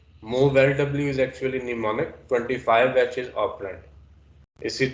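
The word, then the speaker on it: mnemonic: इसमें am silent है। इसको हम पढ़ेंगे निमोनिक।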